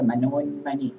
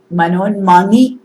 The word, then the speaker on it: മനോന്മനി: ഒരു പ്രധാന വാക്കാണ് മനോന്മനി. മനോന്മനി എന്നും മനോന്മണി എന്നും പറയാം. മനോ ഉന്മനി എന്നാണ് നാദത്തിന്റെ കാര്യത്തിൽ പറയുമ്പോൾ. ഉന്മനി എന്ന പേരിലൊരു നാദമുണ്ട്, അതാണ് മനോന്മണി എന്ന് പറയുമ്പോൾ അവിടെ രത്നമായി. നായും തമ്മിലുള്ള ഉച്ചാരണ ഭേദം കൊണ്ട് അങ്ങനെയുള്ള അർത്ഥഭേദം വരുന്നതാണ്.